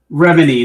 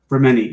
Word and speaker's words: Remini: Anyway, it's like me trying to tell my friend that her name is Leah Remini, not Leah Remini. It's not Remini, it's Remini. Right. She pronounces it that way.